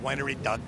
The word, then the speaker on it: Winery Dogs: First of all, you have to say it like that. Winery dogs.